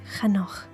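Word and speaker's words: חנוך: Pronounced Chanoch in Hebrew.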